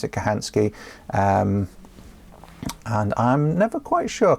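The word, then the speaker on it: Kochanski: Kirtley, I remember Morse Kachansky once claiming that you can overdo layering your clothes by wearing more than 5 layers for insulative purposes.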